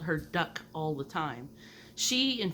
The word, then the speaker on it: Duc: My mom, her name was Duck. It sounds weird. It's Duck like a book, but with a D.